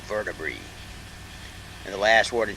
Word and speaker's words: vertebrae: That means the word is plural, and you pronounce an AE ending like a long E. There are hundreds of words like that. So vertebrae, And the last word